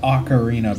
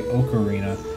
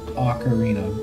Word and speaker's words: Ocarina: It is pronounced Ocarina, by the way. There's people who are gonna say Ocarina. That is wrong. That is incorrect. That is false. It is Ocarina.